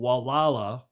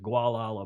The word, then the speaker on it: Gualala: in a place called Gualala. A lot of people pronounce it Gualala, but in Spanish, it's Gualala, California.